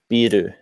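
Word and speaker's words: ビール: For example, like beer, you know, they would say biru. Right. So it sounds very similar, but sometimes the pronunciation, you're like, what?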